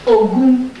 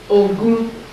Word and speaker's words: Ogun: Third principle for third social principle for a life of victory is Ogun. Ogun. O-G. G is like in George. Is G or J? That's G. O-G-O-U-N. Ogun.